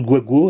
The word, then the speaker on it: Gbagbo: Donc c'est bagbo, donc ça se prononce guago à la limite, hein. Donc c'est en fait c'est parce que le G et le B sont mélangés, quoi.